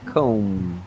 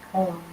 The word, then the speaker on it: comb: The silent B, comb. Okay, comb. Yeah. Yeah, very good. So the pronunciation's comb, no B.